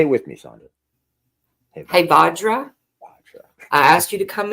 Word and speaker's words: Hevajra: You could call in Hevajra. How do you say that name again? Hevajra. Hevajra. How do you spell it?